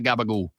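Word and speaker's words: gabagool: Is an Italian American pronunciation of capacola, a cured meat made from pork neck and shoulders.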